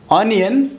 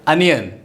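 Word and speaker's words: onion: ऑनियन। ये हम pronounce करते हैं लेकिन इसका राइट प्रोनाउंसिएशन है अनियन।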